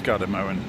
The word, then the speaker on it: Gardermoen: Uh Gardermoen. I always worry about pronouncing things correctly and I'm probably saying it wrong. Is it Gardermoen? Let's go and have a look at it. Yeah, it's Gardermoen, not Moen.